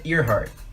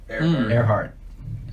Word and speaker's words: Earhart: WCC is pedia yeah there's record archive Amelia Earhardt Earhart that's why I said it right Earhart she